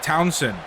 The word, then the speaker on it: Townsend: Zeke Townsend.